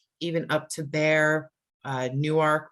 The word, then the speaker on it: Newark: up to bear uh newark we don't call it newark here like in new jersey and call it newark used to be two separate words that's why they pronounce it that way um glasgow it's there's